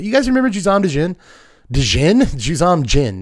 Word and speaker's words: Juzam Djinn: Juzam Djinn. You don't pronounce the D, dummy.